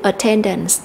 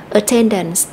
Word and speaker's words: attendance: cho cô checking và danh từ attendance attendance thì chúng ta sẽ nhấn âm ten attendance và cái question là